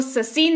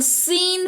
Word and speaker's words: scene: अगला है SCENE, इसको ससीन नहीं, इसको सीन पढ़ते हैं।